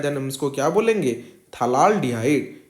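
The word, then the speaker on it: phthalaldehyde: हम इसको क्या बोलेंगे, थलाल डिहाइड। यहाँ पे P का जो प्रोनाउंसिएशन होता है वो साइलेंट रहता है, इसको क्या बोलेंगे, थलाल डिहाइड।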